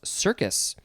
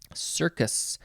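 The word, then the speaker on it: cercus: decide okay next is i think it's just called or pronounced circus but it is spelled c-e-r-c-u-s not the circus with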